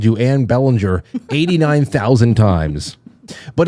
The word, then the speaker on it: Belanger: So, yeah, it's almost spelled that way, but it's actually pronounced Belanger, which actually means beautiful angel in French.